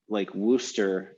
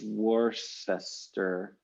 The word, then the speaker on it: Worcester: I mean, maybe there's like lots in names, like Worcester is Worcester.